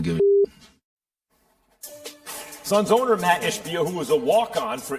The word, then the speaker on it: Ishbia: Jokic wound up making contact with Ishbia. Am I saying it right, guys? I can't Ishbia, you got it.